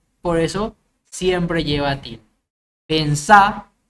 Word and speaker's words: pensá: Pensá es un verbo que es palabra aguda y termina en vocal, por eso lleva tilde. Decime es una palabra llana que termina en vocal, por eso no lleva.